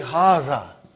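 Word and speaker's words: هذا: erase it ever haha see it is pronounced like haha what but this Aleph is not written it is explaining the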